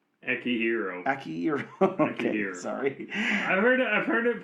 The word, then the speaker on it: Akihiro: Akihiro. Okay, sorry. I've heard it pronounced different ways by different people, but sure.